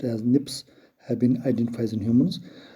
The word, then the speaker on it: SNPs: single php's dna differences single nucleotides polymorphism snps pronounced as nips have been identified in humans their number may